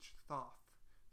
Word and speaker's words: Thoth: That's actually how it's spelled and pronounced. Thoth. Thoth.